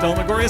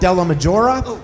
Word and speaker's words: DellaMaggiora: And we will now have Delmoria speak. Hello, Gr. Thank you for having me. My name is Dela Majora and I'm sorry, I mispronounced your name.